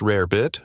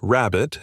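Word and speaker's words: rarebit: When a small amount of cheese needed to stretch to feed many, Welsh rare bit, or rabbit, as it was often mispronounced, became a go-to meal.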